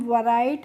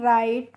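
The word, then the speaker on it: write: आर आई टी ई तो डब्ल्यू आर आई टी ई को हम वैराइट नहीं पढ़ते हैं। राइट पढ़ते हैं। क्यों पढ़ते हैं? क्योंकि यहां पे जो डब्ल्यू होता है इसका हमें प्रोनाउंसिएशन नहीं करना होता है। तो यह साइलेंट होता है। इसीलिए हम आर आई टी ई को राइट पढ़ेंगे।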